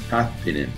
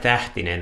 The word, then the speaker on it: Tähtinen: And today we have Richard Tähtinen. Did I say it right? That sounds great. Ah, perfect. I knew. It's more like Tähtinen, I would say. But it was good enough.